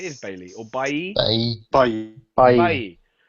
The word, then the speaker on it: Bailly: Bailly. French Again, is a soft Bailly L.